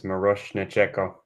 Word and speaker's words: Miroshnichenko: Nori, in case you were wondering how to pronounce the name, it's Miroshnichenko. It's Miroshnichenko. Miroshnichenko.